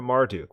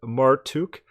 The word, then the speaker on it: Marduk: The name Marduk was probably pronounced Martuk. The etymology of the name Marduk is conjectured as derived from Atmar Utu, immortal son of Utu.